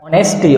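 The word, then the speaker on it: honesty: ऑनेस्टी, ऑनेस्टी होती है ईमानदारी, देखिए एच साइलेंट है तो क्या बोलेंगे इसको, ऑनेस्टी, ईमानदारी होती है। एच साइलेंट है, एच नहीं बोलेंगे।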